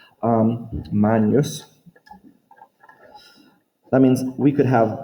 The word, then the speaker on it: magnus: stem, magn, or magne, because our GN sounds when we use ecclesiastical or church pronunciation, it's really a n sound, kind of like the Spanish nye. Magnus.